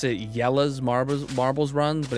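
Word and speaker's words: Jelle's: fan of um um oh well it's they pronounce it yellow's Mar marbles runs but it's spelled like Jelly's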